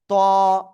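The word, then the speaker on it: ط: জিহ্বার আগা, উপরের দুই দাঁতের আগায় না, গোড়ায় লাগাবেন, লাগিয়ে একটু মোটা আওয়াজে আপনাকে উচ্চারণ করতে হবে। ত, একালিফটা নিয়া ত।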